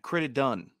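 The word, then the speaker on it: Crittenden: QC criticton really struggled it's not a t at the end credit done credit done Quincy done can guys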